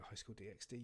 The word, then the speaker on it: High School DxD: of the Dead and I call it High School DxD. You don't pronounce the X.